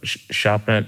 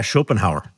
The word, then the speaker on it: Schopenhauer: apologize go for it so shop shener shenaz yeah schopenhauer okay schopenhauer schopenhauer yeah schopenhauer good schopenhauer wo I read the thing